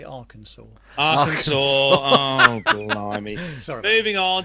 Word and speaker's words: Arkansas: session of me to point out another mispronunciation oh god carlos said our kansas what he meant to say arkansas arkansas oh sorry moving